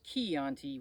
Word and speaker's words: Chianti: beans and somebody's liver you get a nice key anti which is chi versus a uh anyway uh